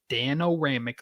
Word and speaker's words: Danoramic: It's Danoramic, literally how it's spelled.